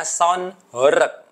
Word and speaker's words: Sound Horeg: Jadi yang betul itu bacanya sound horek gitu ya. Sound itu adalah kependekan dari sound system. Sedangkan hor itu artinya bergetar. Ya, itu bahasa Jawa artinya bergetar.